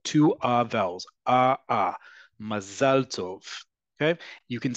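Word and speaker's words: מזל טוב: First off, in modern Hebrew, listen to how I pronounce it. It is not what you um often times transliterate as m a z e l. That is a um pronunciation that's closer to um Ashkenazi Hebrew and their accent. In Hebrew again, remember, accent is on the last syllable.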